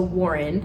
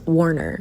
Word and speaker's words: Warner: and then there's also Warren you know when you're reading and you just don't pronounce the names of people out loud this is what happened here his name is not Warren it's Warner but in my mind I'm